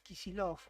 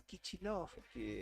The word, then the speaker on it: Kicillof: Claro, ahí está votando el gobernador de la provincia de Buenos Aires, Axel Kicillof, o Dicen Kicillof. que vota por Milei. Kicillof, viste que muchos dicen Kicillof. Para mí es Kicillof.